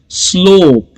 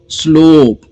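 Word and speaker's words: slope: स्लोप, letters 5 है लेकिन sound सिर्फ 4, स्ल ओप, स्लोप। ओके, अगला जो वर्ड है वो है ग्लोब, जी एल, ग्ल ओ, long vowel sound, O बी, ग्लोब।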